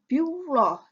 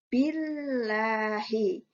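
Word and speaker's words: بالله: Nah, bacanya bukan biullah, tapi billahi.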